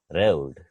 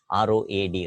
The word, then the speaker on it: road: sounds in the language we have often heard people pronouncing ro ad Road but it is a wrong pronunciation ro ad is not rolled it is Road Road is ro D we have but